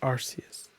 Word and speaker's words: Arceus: Arceus. Say it. Arceus? It's Arceus.